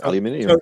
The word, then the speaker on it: aluminium: because I I said aluminium and they were like no it's not that's not how you say it and so I I